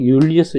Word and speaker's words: 율리우스: c조 이것도 j인데요 요거는 줄리스가 아니고 율리우스 요거 라틴어 발음입니다 그래서 윤리어스요 이걸 옛날